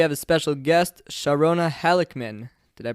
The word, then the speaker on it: Halickman: schwartzberg today we have a special guest sharona halikman did i pronounce that correctly that's right thanks for having